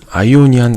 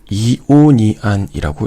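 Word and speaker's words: Ionian: 여기 첫 번째에 있는 아이오니안 같은 경우에는 이오니안이라고 읽기도 해요.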